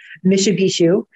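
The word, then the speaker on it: Mishipeshu: I pronounce it Anabishu because that is the easiest for me to pronounce. Some people pronounce it Mishibishu, but to me that sounds too much like the car, so I will go with Anabishu.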